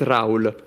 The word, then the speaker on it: Raoul: Also, yeah, my name is Raoul. You can pronounce it the French way as well because it's a French name. Okay. I do not accept the Spanish way of pronouncing it.